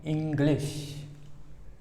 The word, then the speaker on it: English: ये यहाँ पे का खा गा घा अंगा लगता है और यहाँ पे एक गा और रहता है, इंग्लिश। इंग्लिश मुख्य रूप से हमें